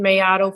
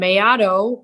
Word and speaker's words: Maiato: name yes hi there yes this is mayato and mayato I I assume you want me to spell that that's the tricky one it's m as